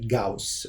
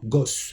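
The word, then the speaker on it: Gauss: un savant qui s'appelle GAUS en allemand gos en français le auu ça se prononce ao en allemand Audi non pas Audi alors GAUS qu'est-ce qu'il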